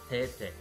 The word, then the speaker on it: Tae: tiene, que es Tae, que es Tae, así lo pronuncian en coreano.